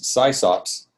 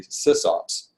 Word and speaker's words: sysop: And there was, I kept reading about these SysOps that existed in the computer, in the the networking, network management, BBS management world. And it was spelled SYSOP, and that's how I learned to pronounce it, was SysOp, because I had never